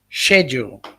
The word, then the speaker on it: schedule: um papa is saying he's ridiculed for not using the k sound in schedule papa the correct pronunciation is schedule not that other one